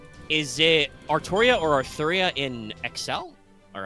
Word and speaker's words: Artoria: are that way the the way Japanese works the l r sound are the same so you can write it both ways but it's pronounced in English it sounds like artoria and as I've said